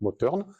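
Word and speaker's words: Mothern: la mer effectivement mais en alsacien le TH se prononce t donc motne et ce village s'appelait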